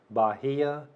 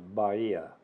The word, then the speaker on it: Bahía: which is north of Bahia notice the correct pronunciation of Bahia a lot of people want to say Bahia but it's actually Baria because the H is solid Bahia b-a-h-i-a but